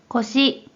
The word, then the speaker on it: 腰: 이번에는 허리요에 대한 일본어 발음 확인해 볼게요. 먼저 뜻으로는 腰、腰、 한편 음으로는 よう、よ 라고 각각 발음해줘요.